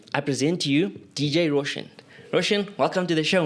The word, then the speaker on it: RSHN: Now, yours is DJ Roshan. Yeah. But it's spelled RSHN, right?